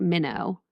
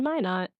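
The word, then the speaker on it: Minot: something is pronounced because it's not minnow okay I'm ready it's still recording so go on whenever you're ready okay today we journey into my not North Dakota to explore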